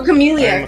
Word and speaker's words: Chamellia: Chameleia. Chameleia. Like a like a chameleon. Yeah. I I looked up the pronunciation. It's chameleia. Awesome. Chameleia. Like chamomile. Like chamomile.